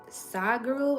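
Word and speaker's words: Sadhguru: soccer while in classroom so here I am side Guru I think it's spelled s-a-h-d -n-g-a-r-u I think let me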